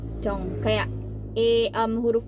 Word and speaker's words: Jung: berikutnya itu adalah Jong kalau versi romanization nya versi Inggrisnya itu memang ditulisnya Jung Tapi bacanya itu sebenarnya cong cong cong kayak eam huruf o